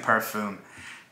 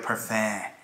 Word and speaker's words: parfum: Someone chewed me out for saying it like an American might. I was saying parfum. You know, someone's like, are you serious? No, you say it like parfum.